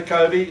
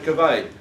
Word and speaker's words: Covey: I say Covey, some say Covey.